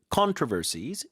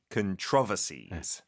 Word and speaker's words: controversies: 이거 미국 발음은 controversies. 영국 발음 한 번 더요. Controversies. 강세가 다르죠. 네.